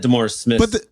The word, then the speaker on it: DeMaurice Smith: I thought that DeMaurice Smith, DeMaurice Smith, did I say his name?